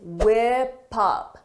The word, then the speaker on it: whip up: For the pronunciation, notice is whip up, whip up, whip up because of linking.